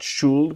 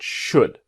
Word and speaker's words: should: Now remember, should, the L is silent. Not should, but should.